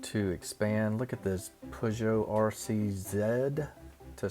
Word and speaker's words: Peugeot: Look at this Peugeot RCZ, to say it correctly, I guess, over there.